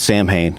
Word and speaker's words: Samhain: saw in which we talked about before it's Samhain I mean that's what that's the way that I pronounced it forever until I was free to